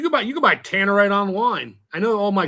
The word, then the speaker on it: Tannerite: r i t e I thought was t or tanate I'm looking I'm looking at the way they differ ways it's spelled here so Tannerite works well Tannerite everyone says Tannerite that way uh oh it's